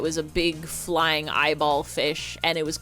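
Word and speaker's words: Feysh: And my brother and I thought it was so so funny when you tried to pronounce it and it just sounds like you're pronouncing fish really stupid.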